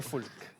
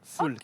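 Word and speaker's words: Foulques: Et les Foulk. Les Landry Foulk. et les Foulk. Foulk. Ok. Foulk. Foulk. Ça s'écrit Foulk.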